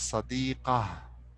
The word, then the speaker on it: صديقة: So this sadiqa, it could be sadiqata or sadiqati or sadiqatu. It's up to the conjugation of this word. Later on, we will be talking about this. Okay. So, but for now, you can pronounce it as sadiqah.